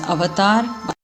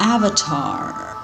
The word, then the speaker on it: avatar: review of the movie I am going to pronounce it as Avatar the correct pronunciation the Indian pronunciation of the word Avatar it's not Avatar americanizing it I'm sorry so there